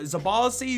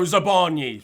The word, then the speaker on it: Zabarny: You've got the Don who plays for Zabarzi, who plays for Bournemouth. No, Zabarny. Sorry, I've absolutely butchered his pronunciation.